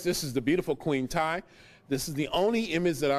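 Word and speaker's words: Tiye: This is Queen Ty, or T.A. Some people pronounce it Queen T, T-I-Y-E.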